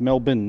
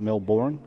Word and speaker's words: Melbourne: So Yes, it's pronounced Melbourne, not Melbourne.